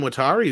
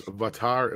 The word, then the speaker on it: Watari: Then we got Jim Watari, who says, Andre needs to say my name as Vatari. Oh, go ahead. Vatari. Jim Vatari. Okay. That right? I hope so. Yeah, so it is like a V sound, like I was wrong.